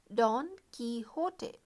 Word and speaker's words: Don Quixote: see this is a spelling but the correct pronunciation is don quixote in 1605 and it was an instant success the second part of don quixote was published in 1615.